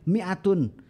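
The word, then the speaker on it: مائة: Kita membacanya pendek, mi'atun. Mi'atun artinya 100. Nah, alif di situ ya tidak ada fungsinya.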